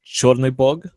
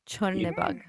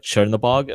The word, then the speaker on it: Chernobog: It's Chornybog Chornebog. and Bjelybog. Bjely Billy means Bug. white, Chorny means black, Bog means God. So Oh, any other pronunciation of those words like Chernobog or whatever the fuck is just a butchering of the term.